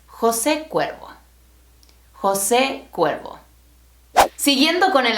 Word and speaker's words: José Cuervo: The best-selling tequila in the world is not pronounced Jose Cuervo. It's named after the founder, and his name is José Cuervo.